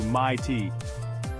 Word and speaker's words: mate: The I in night sounds more like noity, and mate gets stretched into my tea.